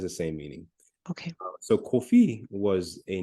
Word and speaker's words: Kofi: For example, at the very top, you see there a coffee, Yes, right? Which in phonetic English is spelled C-U, in most cases, spelled C-U-F-F-E, C-U-F-E-E. And that coffee refers to the Akan name Kofi, but also Kwafi.